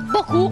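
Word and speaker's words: beaucoup: E fa, com'è che si pronuncia? Perché tanti non lo sanno. Che si dice Boku.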